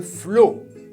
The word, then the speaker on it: flot: Así, la T no se pronuncia. Le flot.